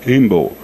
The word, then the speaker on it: Imbaud: Se pronuncia Georges Camille Imbaud, mas é Imbaud.